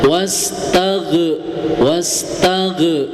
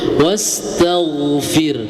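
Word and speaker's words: وَاسْتَغْفِرْ: Nah, jadi mau tidak mau huruf ghin itu jangan diqalqalahkan, jangan dipantulkan. Ya, kebanyakan orang baca wastag wastag ya. Jadi harus apa? Ee harus ee apa namanya? Dijaga huruf ghinnya jangan sampai mantul. Wastagfir. Wastagfir. Nah. Ya. Jangan sampai ada pantulan sedikit pun. Wastag tag. Nah, itu mantul ya.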